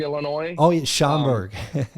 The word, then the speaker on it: Schaumburg: in chicago um i don't know how to pronounce that place shumberg scunburg illinois oh yeah schomburg schaumburg yeah so it's in the middle of nowhere